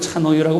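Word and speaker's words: 茶の湯: 차를 넣은 뜨거운 물, 차 가루를 넣은 뜨거운 물이란 뜻으로 차의 탕, 저거를 차노유라고 발음합니다.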